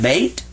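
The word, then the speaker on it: بيت: I put a Y and then I put a T what do I have is that bait and that's what it says in Arabic this says baa and that means to be quiet like this silent why is right here in English this means be quiet and this is top beta bait so that's how you say house in Arabic now this was just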